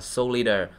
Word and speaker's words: Solider: cái từ này đi họ không đọc là Soldier mà đặc là solider cho muốn cho người